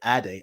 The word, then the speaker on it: Ade: is what we do my name is Adi not ADI but if you say Addie I'll take it with Addie I used to mispronounce my name too because I'm trying to blend in I don't want to stand out but once I reclaimed my identity I'm like shift ID is the right way to say my name say my name say